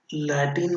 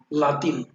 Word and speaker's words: Latin: लैटिन नहीं बोलते उसको, लैटिन अपन बोलते हैं, उसका रियल प्रोनाउंसिएशन है लातिन, लातिन।